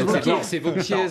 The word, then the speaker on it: Wauquiez: principe ça se prononce Wauquiez. C'est Wauquiez à Paris et Wauquiez en Rhône-Alpes. C'est Wauquiez, très bien, moi je dirais Wauquiez. Voilà, c'est comme Saint-Tropez, Lui se prononce Wauquiez.